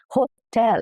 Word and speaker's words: hotel: Now, this one is crucial because stressing the wrong part, laying the stress on ho instead of tel, the second half of the word. Hotel.